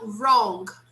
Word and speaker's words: wrong: you hey guys now wrong this is the w in the beginning the w is silent so wrong wrong wrong